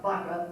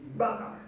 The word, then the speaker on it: Baka: By the way, I pronounced it in such a way that these 2 sounds are made at the same time. G and B, Baka. It's not Baka or Gaka, it's Baka.